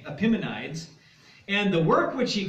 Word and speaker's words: Epimenides: by the name of, there's different ways to pronounce it, but I'll pronounce it Epimenides.